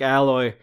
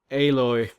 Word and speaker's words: Aloy: Sounds like Alloy, but I think it's actually pronounced Aloy.